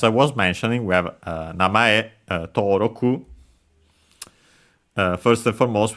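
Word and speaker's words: 名前: given name but yeah namay is the one you mostly used for name especially the given name the first name also an accent by the way namay uh and then after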